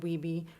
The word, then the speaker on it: Wiebe: it was funny how hust and weeby rhymes with dweeb then I realized that